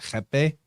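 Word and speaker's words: rapé: It's spelled like, it looks like it's spelled rape, R-A-P-E, but they pronounce it jepe.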